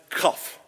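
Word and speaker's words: קוף: It is pronounced cough. It's kind of like you're coughing, but a little bit more than cough.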